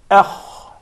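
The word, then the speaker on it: خ: Then you come to the kha, which is heavy, you say akh.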